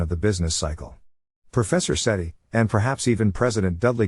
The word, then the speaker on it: Sethi: You can tell you're a geek if you think Sethi should rhyme with get high.